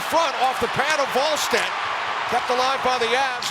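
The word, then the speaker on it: Wallstedt: Game starts with a W pronounced Volstead.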